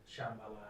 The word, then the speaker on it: Shambhala: Shambhala.